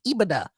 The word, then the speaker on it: EBITDA: It's EBITDA.